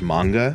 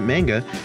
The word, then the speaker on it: manga: Also, as a side note, I do know in Japanese it's pronounced manga, but I'm just going to keep pronouncing it manga because that's how I've always said it.